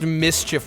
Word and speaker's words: MSCHF: It's pronounced mischief. What the fuck is with brand names just pulling out vowels and being like, that's our brand name, but you say it like a normal word?